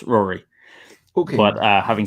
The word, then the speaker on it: Rory: Sorry, is it Rory or Rory? Rory. Well, Rory is the Irish pronunciation of it, but I nearly changed it as a teenager to the Irish spelling, but I kept it as the English spelling for it. So it's Rory.